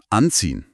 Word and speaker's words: anziehen: Die Betonung liegt auf an. Anziehen.